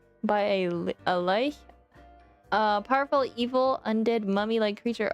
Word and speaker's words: Lich: Lich is pronounced like witch.